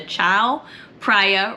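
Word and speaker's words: Chao Phraya: down to let me say it right the Chow priia River hopefully I got that right and that's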